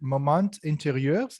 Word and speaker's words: Moments Intérieurs: I think you pronounce it moment intérieurs. Is it like that?